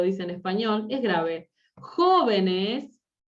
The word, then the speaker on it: jóvenes: Jóvenes, jóvenes es esdrújula.